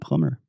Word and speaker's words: plumber: And don't say those B's at the end of words like bomb and dumb and plumber.